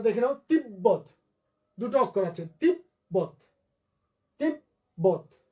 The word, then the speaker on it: তিব্বত: হাম্বা, লম্ব, 90, তিব্বত। এগুলো সবগুলোতেই বয়ের সাথে বফলা যুক্ত হয়েছে, ময়ের সাথে বফলা যুক্ত হয়েছে, এবং এই সব জায়গাতেই বফলার উচ্চারণটা ঠিক থাকবে।